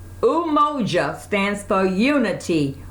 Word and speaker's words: Umoja: As I mentioned, the black candle, it represents the very first one, unity, and it's pronounced as Umoja. Umoja stands for unity. Umoja.